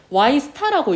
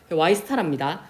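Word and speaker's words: Y*: 요거는 Y스타라고 읽는답니다. 요거는 민기쌤께 여쭤봤어요. 그 Y별이라고 읽어야 되는지. Y스타랍니다. Y스타는 장기 균형 국민 총소득 수준을 나타낸다 라고 되어 있거든요.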